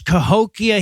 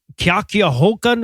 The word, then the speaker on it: Cahokia: Well, this is the same guy who said nuclear, and then later on when he tries to pronounce Cahokia, he pronounces it Kyakiahokan or something like that.